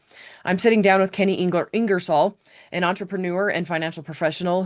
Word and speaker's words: Ingersoll: His name is Kenny Ingresol. Uh actually Kenny, how do you say your last name? Is that correct? Ingresol.